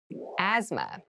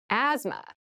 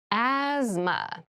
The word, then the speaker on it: asthma: asthma asthma Asma so this word has very interesting spelling there's a th in the middle but we don't say Asma we say asthma so kind of ignore that but try to remember it when you're spelling this word